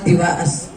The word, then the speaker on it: divas: They are called divas. Look, I'll spell it for you.